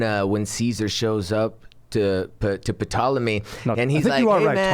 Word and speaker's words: Ptolemy: So when he goes to Ptolemy or Ptolemy, whatever. Yeah, I forget. There's a silent P maybe. a but silent P, yeah.